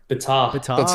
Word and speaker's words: Betar: How do I actually pronounce it? You got it right the first time, bro. Betar.